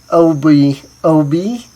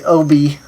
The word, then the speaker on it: Oubi: Actually, it's probably Oubi. It's probably Oubi, now that I think about it. Because I is pronounced E in Japanese.